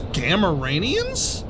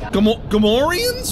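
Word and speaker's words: Gamorrean: Are those Gamoranians? You're saying it wrong. Gamorians?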